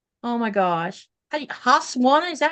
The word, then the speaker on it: Husqvarna: Vicky says I have a, oh my gosh, Husqvarna, is that how you say it?